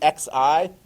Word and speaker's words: Xi: So if you see XI, that's the part of the name of the leader in China. How do you pronounce that?